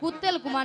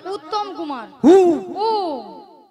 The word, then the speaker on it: উত্তম কুমার: শ্রী ঠিক করে উচ্চারণ করো তুমি ঠিক করে উচ্চারণ করো বলো শ্রী শ্রী শ্রী শ্রী শ্রী শ্রী উত্তেল কুমার নয় বলো উত্তম কুমার উত্তম কুমার হ্যাঁ নিয়া পড়ি আমি কুত্তেল কুমার